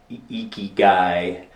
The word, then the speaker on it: ikigai: butcher the pronunciation, but ikigai, I-K-I-G-A-I, I think is how it's pronounced.